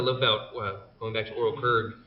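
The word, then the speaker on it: Ooryl Qrygg: One of the things I love about going back to Oral Kurg, it's hard to say. Oral It is. Kurg It is. is how you pronounce it?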